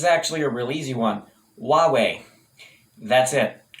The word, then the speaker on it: Huawei: a really easy one huawei that's it wah like a baby and way like a direction huawei that's it huawei